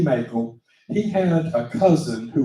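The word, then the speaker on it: Mackall: there is a young man named Thomas Bennett Mel m a c k h excuse me a l l and it looks like mael you want to pronounce it like mael like macaroni but it say Mel Thomas B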